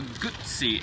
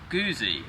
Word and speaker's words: Guzzi: the Triumph Bonneville T100 it's the original Moto gutsy as it's pronounced not guzy as some may believe the original V7 was launched in 1976.